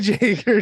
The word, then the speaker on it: Jaeger: is it Jaeger right Jagger Jake it's not Jaeger it's Jager dude everyone pronounces it Jaeger that's that's just what it